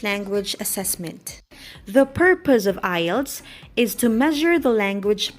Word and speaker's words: IELTS: i am going to talk about the acronym i e l t s this is pronounced as ielts ielts is the international english language testing system